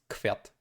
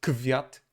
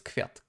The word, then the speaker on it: kwiat: We have voiceless K and then W. So it's kwiat, kwiat. It's not kwiat, kwiat. Nope. It's kwiat, kwiat, kwiat.